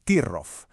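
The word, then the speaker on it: troff: Y el gran protagonista de esta historia es Trof, que se pronuncia Tirrof.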